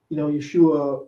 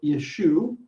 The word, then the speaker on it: Yeshu: Ele Toldot Yeshu ben David ben Abraham. Yeshu is how the Dutele Matthew spells Yeshua, and it mimics the Galilean pronunciation, dropping the final ein sound.